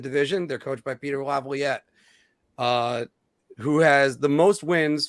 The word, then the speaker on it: Laviolette: They're coached by Peter Laviolette, who has the most wins for an American-born head coach.